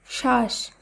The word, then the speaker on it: শ্বাস: আবারও বলি, শব্দের প্রথম বর্ণে যদি বফলা যুক্ত থাকে সাধারণত সেই বফলার উচ্চারণ হয় না। যেমন স্বাধীন, স্বদেশ, জ্বালা, ত্বক, শ্বাস, ধ্বনি। লক্ষ্য করুন, এই প্রত্যেকটি শব্দেরই প্রথম বর্ণে বফলা যুক্ত আছে, কিন্তু শব্দগুলিকে যখন আমরা শুদ্ধভাবে উচ্চারণ করব তখন সেই উচ্চারিত শুদ্ধ শব্দে কিন্তু আর বফলা থাকছে না।